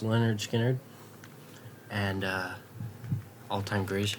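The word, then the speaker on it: Lynyrd Skynyrd: We got pronounced Leonard Skard and uh all time greatest hits.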